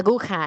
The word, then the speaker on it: aguja: La aguja has a J, which makes sure that you are pronouncing it that last syllable as ha.